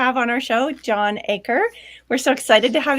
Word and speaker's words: Achor: name is Jason John acre Victorine pronounced it correctly it's like a parcel of land but I spelled funny a C hor nobody